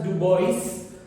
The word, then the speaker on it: Dubois: erectus was given by Dubois. Please do not pronounce this as Dubois, it is Dubois, ठीक है।